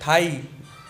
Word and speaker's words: thigh: उसके बाद दिखा रहा है थाई, थाई के अंदर आपको दिखाई दे रहा है जी जो है साइलेंट है, THIGH, थाई, थाई कहते हैं मांडी को।